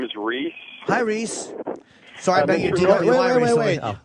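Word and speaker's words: Rhys: Hi, Reese. Sorry about your deal. Wait. Your name is Reese. Yes, that's correct. Do Reese. you spell it R-H-Y-S?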